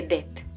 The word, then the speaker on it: det: En noruego no suelen pronunciar la T de det. Por lo tanto sería det er sommer.